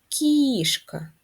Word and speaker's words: кішка: наголос на перший склад кішка наголос на перший склад складіть речення у якому